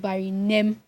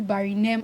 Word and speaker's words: Barinem: So when you hear that people call your name correctly, for instance, my name is Barine and it's spelled Barinem. So when people call me Barinem, I'm like, that's wrong. It's Barine.